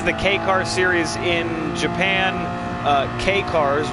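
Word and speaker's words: Kei cars: K-Cars, which is spelled K-E-I.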